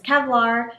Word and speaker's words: Qevlar: to talk about is kevlar which is spelled with a q q e v l a r and kevlar is actually